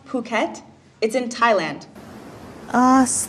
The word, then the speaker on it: Phuket: Sure, it's pronounced Phuket.